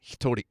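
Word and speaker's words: 一人: Hitori. And that's how they decide to pronounce this combination of Ichihito, Ichibito, okay. right? Hitori ja something something. Ichinin. Ichinin. Yeah, so but it's pronounced hitori.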